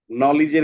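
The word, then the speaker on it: knowledge: আমরা পড়ছিলাম সাইলেন্ট খেই এটাও সহজ খুব খেই এর পরে যদি এন থাকে তাহলে খেই এর সাউন্ডটা হয় না যেমন নলেজ এইযে আমরা এখানে পড়ছিলাম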